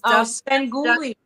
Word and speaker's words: Svengoolie: Oh, she said, I don't know how to pronounce it. It's Svengoolie.